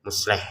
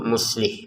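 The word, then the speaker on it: مصلح: kan ada orang namanya musleh. Itu kan asalnya kalau di bahasa Arabnya itu muslih gitu. Maka di Al-Qur'an lebih ditekatkan lebih ditekankan lagi masalah harakatnya itu muslih bukan musleh ya.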